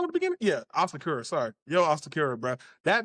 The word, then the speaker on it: Asakura: Did I say his name wrong at the beginning? Yeah, Asakura.